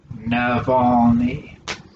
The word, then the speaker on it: Navalny: box so you can pronounce alexi navalny navalny he's not navajo he's a russian and he's the opposition